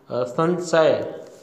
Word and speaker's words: संशय: संशय, संशय में आप देख रहे हो कि आधा न किया हुआ है वो अशुद्ध है, जबकि स के ऊपर अनुस्वार यानी बिंदी आएगी और शुद्ध उच्चारण होगा संशय, तो ये इसका शुद्ध रूप है।